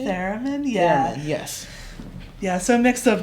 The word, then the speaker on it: theremin: Theremin, yeah.